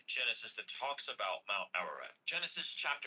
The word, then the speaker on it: Ararat: Where let's look up this word Ararat, right? Ararat. You gotta roll your R's, baby.